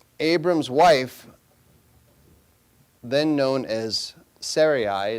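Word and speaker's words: Sarai: Now all this time Abram's wife then known as Sarahi it's actually correctly pronounced Sarahi but in any case Abram's wife had not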